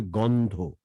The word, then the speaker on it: গন্ধ: গন্ধ বললেন, এটা হবে গন্ধ। গন্ধ। গন্ধ, গ, ওটা ঘ না, গ, অল্প প্রাণ।